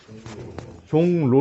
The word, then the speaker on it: 종로: 쏘니 뭐 라고 적었어요 종 로 라고 적었지만 실제 발음할 때 여러분 어떻게 바람에 종로 라고 가능합니다 그렇죠 미워 로 앞에 써 니 은 으로 바뀌었던 말이죠 근데 어 종 뭐라고